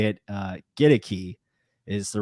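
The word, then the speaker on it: Goedeke: to talk more about luke kedeki or nakadeki get a key get a key there you go get a key it's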